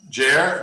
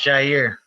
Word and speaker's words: Jair: see uh is it is your name pronounced jer jair it's pronounced jair nice what what are